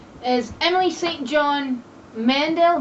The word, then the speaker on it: Mandel: is Emily St John Mandel Mandel like Howie Mandel I don't know could